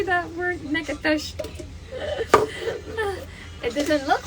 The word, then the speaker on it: Natchitoches: Because it says it's spelled Natchitoches or something like that. You're like Natchitoches. No, Natchitoches.